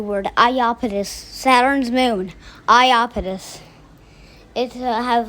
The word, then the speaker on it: Iapetus: sorry i know how it's pronounced now it's pronounced ayapetus please forgive me guys i'm telling you a new word i opposed saturn's moon iapetus it has like has a very mean radius